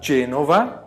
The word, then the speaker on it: Genova: Você fala Genova porque tem o E.